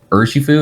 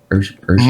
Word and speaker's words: Urshifu: But the Urshifu, is that how you say it? Urshifu?